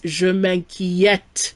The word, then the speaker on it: je m'inquiète: On the other hand, an E with an accent grave is always pronounced eh. Like a short E sound. So if I want to say I worry, it's je m'inquiète with an sound.